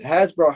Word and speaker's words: Hasbro: hasbro i believe so that's pronounced hasbro has it now yeah